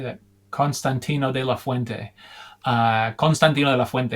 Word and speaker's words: Constantino de la Fuente: Constantino de la Fuente is how you would say in Spanish, but it's hard to say sometimes with that accent.